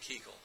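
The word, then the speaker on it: Keuchel: and not batting for the American League Dallas Kegel it's spelled que EU chal but they pronounce it Kegel all right and here is the starting lineup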